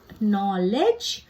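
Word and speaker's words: knowledge: ख जैसे कीप और अगर के के बाद एन लिखा हो तो के फिर साइलेंट हो जाता है और के की ध्वनि नहीं सुनाई पड़ती है जैसे द वर्ड नॉलेज नॉलेज में के पहले है पर क नहीं सुनाई देगा आपको न सुनाई देगा नॉलेज एल एल हिंदी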